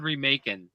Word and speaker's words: Remak: So, check Lord Remin out. Um, actually, it's Lord Remaking, I should say. It's Lord Remak. That's how it's pronounced because he's remaking.